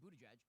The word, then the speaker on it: Buttigieg: We've got Pete Buttigieg. Pete Buttigieg used to be like a B. Oh, that's how it's pronounced.